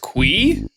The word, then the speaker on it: Qi: Well, I guess that settles that. Straight from the man himself. It's pronounced QWEE?